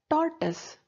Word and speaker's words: tortoise: is small and flat the pronunciation is tortoise it's not tortoise it is tortoise c main rewrite the